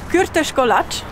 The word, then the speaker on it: Kürtőskalács: Es gibt Gürteschkolat. So wurde mir gesagt, spricht man das aus.